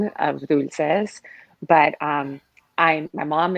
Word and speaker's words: Dulce: just completely confused or they go with the italian because desserts are you know pretty frequent dolce or dolce gabbana or whatever so it's dulce and um you know